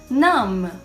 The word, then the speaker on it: numb: Quando a gente tiver a combinação do M e o B em palavras, a gente não vai pronunciar o B, como a gente viu nos exemplos.